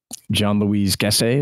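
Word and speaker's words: Jean-Louis Gassée: And this was Jean-Louis Gasset, is that how you pronounce Jean-Louis it? Jean-Louis Gasset, yeah.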